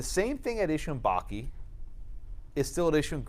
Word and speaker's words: Bakke: the units of california-davis Oh baki cuz it's pronounced Bakke yeah okay all right very